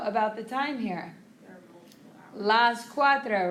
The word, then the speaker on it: cuatro: You can hear that U and the A, qua, and then tro, T-R-O, cuatro, okay?